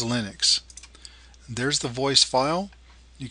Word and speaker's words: Linux: Hello, this is and I pronounce Linux as Linux.